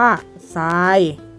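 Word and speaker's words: ทราย: ตัว แรก นะ คะ หรือ ทร ออก เสียง เป็น เสียง เสียง อะไร คะ บอก ไป แล้ว เสี่ยง ซอโซ่ นะ คะ ตัว อย่าง คำ เช่น คำ ว่า ซาย หรือ คำ ว่า พุทรา นะ คะ อ่ะ ที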